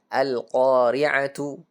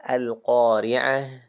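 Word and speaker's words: القارعة: Coba lihat di sini alqoriatu. Nah ini ta marbutah akhirnya jangan dibaca alqori'at bukan tapi dibaca alqoriaah. Malqoriaah.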